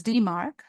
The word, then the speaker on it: DMARC: final component which is DeMark DM RC this is pronounced as DeMark stands for domain based